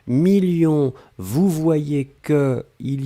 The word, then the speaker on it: millions: s à la fin 2 millions on ne prononce pas le s mais il est là ensuite signature mais ici